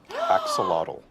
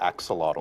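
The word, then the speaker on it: axolotl: We're all going to learn how to say axelottle. Yeah, I probably I probably said it wrong, but I No, I think you got it right.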